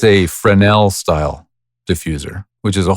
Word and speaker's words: Fresnel: It's spelled Fresnell. Literally Fresnell, but it's pronounced Fresnel.